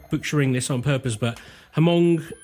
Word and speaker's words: Hmong: this on purpose but hamong ethnic group I think it's Hong I have checked online I can't find a uh a pronunciation but I think it is Hong ethnic group and it affected